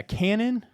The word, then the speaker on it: Canaan: Yeah, Canaan.